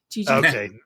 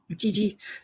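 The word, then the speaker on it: Jiji: How did you spell that? J-I-J-I. Gigi.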